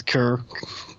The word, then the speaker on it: Keur: But I found it interesting in quotes from both Ryan Keur, whose name I always mispronounce, Keur, K-E-U-R.